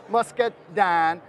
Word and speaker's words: Muscadine: grape and of course us sellingers we love to add extra syllable to things so Muscat dine became the nick name for